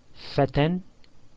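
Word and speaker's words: فتى: Fatan. Notice fatan ends with the alif maqsura. It's a ya without the two dots, and it's pronounced as an alif but written as a ya.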